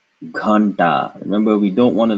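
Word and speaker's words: घंटा: Well, we see the dot, and so we are assuming that the na sound here is joined with what comes after it, which is da, which is pronounced with the tip of the tongue touching the roof of the mouth. And so this would be, oh, that's wrong. That would be na. And so this is ghanta, ghanta.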